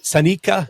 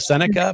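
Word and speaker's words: Seneca: out of the area, they would pronounce Manley as Manu or uh you know Yeah. You know, sika instead of senica because they didn't know.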